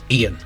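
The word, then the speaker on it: Eógan: that this evil abbott ian uh i think that's how you pronounce it it's e-a-g-o-n and when you hear king flynn pronounce it he says ian um he seems to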